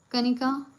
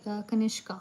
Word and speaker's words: Kanishka: Yes, Kanika, right now Sorry, Kanishka.